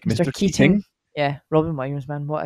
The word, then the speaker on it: Keating: which is funny because in a scottish accent we all could say mr keaton mr keaton right but they really pronounce it it's like mr keating yeah robin williams man